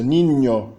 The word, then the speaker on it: niño: Observe bem a pronúncia, niño, niño, el niño. Há um toque, um contato bem claro da língua com o palato dianteiro, niño, nho, nho, nho.